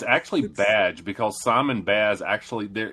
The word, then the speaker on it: Baz: Um, it's it's it's actually badge because Simon Baz actually there it was there was there was an issue where Simon Badge is like Yeah. Simon Baz is like it's pronounced badge and I was like